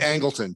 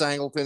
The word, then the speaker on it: Angleton: Angleton.